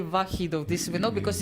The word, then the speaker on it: Vokhidov: I was ready to go to the game between Lanier and I'm going to mispronounce his name, so excuse me. Shamsiddin. Shamsiddin, yes. Shamsiddin. Vokhidov, yes.